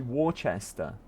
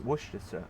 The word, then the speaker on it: Worcester: And the way it's spelled, it should be Warchester, but it's pronounced Worcester.